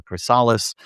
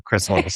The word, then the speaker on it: chrysalis: the chrysalis, which by the way, I've been mispronouncing for like the past 2 months and calling it a crysalis, and I finally came to the conclusion that yes, it is the chrysalis.